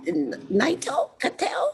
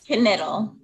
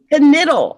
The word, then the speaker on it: Knittel: We've got Brenda Bailey, Elizabeth, is it Knittel? No, it's Knittel. Knittel.